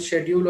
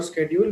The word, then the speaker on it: schedule: whatever we have learned schedule or schedule we think that that is right but actually both are right one is American one is a British so many teachers have